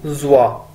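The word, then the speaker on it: 做: सबसे पहला वर्ड है जी हमारे पास जुआ, जेड यू ओ जुआ। हमने देखा था पहले इसको जो की शक्ल में, इसको हम बोलते थे जो, स्पेलिंग वही है लेकिन अब इसे हम बोलेंगे जुआ।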